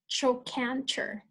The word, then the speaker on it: trochanter: If you want to repeat after me so you get familiar with the words, it's pronounced coxa. And the next part of the leg, it's called trochanter.